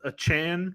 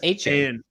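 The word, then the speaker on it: Achane: you can't start both a Chan which is what he says he wants to be called a chance I thought it was AJ well I thought so too but then he put the correct pronunciation as a Chan and Raheem moster you're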